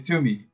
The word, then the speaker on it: Toomey: It is Toomey. Two, pronounced two, means hammer in Burmese. Me, pronounced me, means fire.